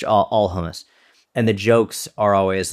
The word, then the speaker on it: hummus: Well, there's differences whether you're, you have an Arabic pronunciation or you have a Hebrew pronunciation. And even within those pronunciations you'll get different, like from a more like Hebrew perspective, it's like hummus. It's like, aah, it's that like, hummus.